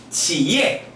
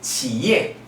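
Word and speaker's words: 企业: 일성으로 읽으면 치라고 읽고요. 삼성이니까 치고요. YE는 예라고 있습니다. 그래서 기업은 지예 이렇게 발음이 됩니다. 여러분 기업이 중국어로 뭐라고요? 예, 지예 이렇게 아셔야 돼요.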